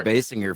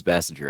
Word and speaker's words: Basinger: Everyone called her Basinger for so long, but it really is Bassinger. I So what is it? Is it Bassinger?